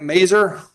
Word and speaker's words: Mazer: Are you ready on Mazer? Am I saying it right? Mazer? Said it right. Just like razor, but not so sharp.